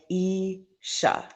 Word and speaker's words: Isha: okay this is isha you say it like ee sha and this is her